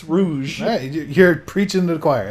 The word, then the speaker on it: Rouge: spell it now cuz her name's not rogue it's rouge hey you're preaching the